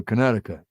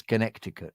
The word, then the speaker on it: Connecticut: those um those Western they always go Conneticut yeah that's because they come from America from America so they miss they like missing a few words and syllables Connecticut America America they go they go Connecticut without the sea but it really is Connecticut is it and yet